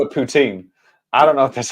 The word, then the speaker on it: poutine: it no no well the way you pronounce it is so it's Puttin like you have to have a real little French to it you know but the